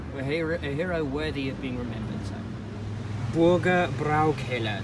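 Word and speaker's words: Bürgerbräukeller: worthy of being remembered Burger brow killer that's how you pronounce it I keep getting it wrong get a better shot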